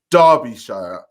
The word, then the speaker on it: Derbyshire: Derby, pronounced Derby, is a city and unitary authority area in Derbyshire, England, pronounced Derbyshire.